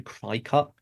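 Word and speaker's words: Cricut: correct me I say cricket I'm just going to call it Cricket yeah because it I it apparently it's supposed to be cry cut but cricket sounds so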